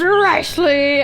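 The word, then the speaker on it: Wriothesley: It's Ricely. I sound like I'm a wrestling ring announcer. With 34.9% of positive votes. Ricely, I need that man like I need air. Ricely, insert drooling emoji here. Ricely, have you seen that bakery?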